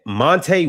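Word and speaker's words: Monta: I don't think it's pronounced Monte Mont, but it's written Mont.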